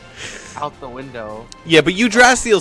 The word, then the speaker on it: Yggdrasil: It's not really the proper pronunciation, it's Yggdrasil with the emphasis on the Y and the A at the end.